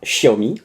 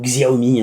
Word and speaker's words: Xiaomi: produit de la marque Xiaomi ou Xiaomi he pour ceux qui veulent le prononcer à la française hein je qu'il y en a qui aiment la vraie prononciation chinoise il y en a d'autres qui préfèrent la prononciation française comme vous voulez c'est